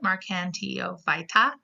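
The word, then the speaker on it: Marchantiophyta: are in the phylum mark nto vitae remember five top means you're talking about a phylum mark and tio fighta this is how you pronounce it mark and tio fight ah and here we actually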